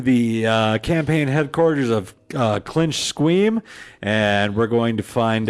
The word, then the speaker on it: Squeam: How do you pronounce that? Sorry. It's Squeam. Oh, okay, because it looks like Squeam.